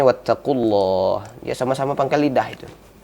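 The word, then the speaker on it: وَاتَّقُوا اللَّهَ: Nah, ini sering terjadi huruf qaf sama huruf kaf ini sering, ya, sehingga bacanya wattaqullah. Nah, harusnya wattaqullah.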